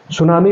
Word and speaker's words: tsunami: Japan में हर टीएस को, है ना, टी को साइलेंट रखा जाता है, टीएस कॉमन आता है, जैसे ह्यूमन सांग भारत में है ना, टी, हाँ, तो उसको सुनामी कहते हैं।